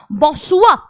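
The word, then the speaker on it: bonsoir: अभी आपको ये याद रखना है कि एंड में कॉन्सोनेंट को प्रोनाउंस नहीं करना है, इसलिए हो गया बॉसुआ बॉसुआरे बॉसुआरे, और गुड नाइट बॉनोई बॉनोई।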